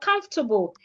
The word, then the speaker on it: comfortable: The O and R are silent.